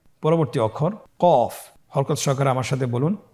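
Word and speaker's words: ق: এই হরফটি কিন্তু আপনার মোটা অক্ষর, মোটা হরফ। বলার সময়, উচ্চারণ করার সময় অবশ্যই মোটা করে পড়তে হবে।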